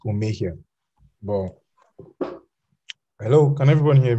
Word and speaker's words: Omohia: It's actually pronounced Omohia, but hello, can everyone hear me?